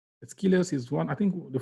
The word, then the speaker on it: Aeschylus: Aeschylus. Aeschylus is one, I think the first Greek, this guy, brilliant mind, the first, I think one of the first Greek tragedians.